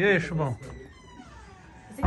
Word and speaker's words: Chubão: É Chubão, com B. Chubão.